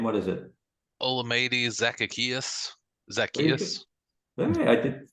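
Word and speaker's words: Olamide Zaccheaus: zacateus you knew his name what is it olamide zacaeus Zacchaeus hey I did not bad I thought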